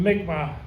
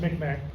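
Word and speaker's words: Mi'kmaq: The modern tribes in and around Maine today include Abanaki, Ponobskot, Pasquati, Mali, and the Mikmma, formerly pronounced Mikmack.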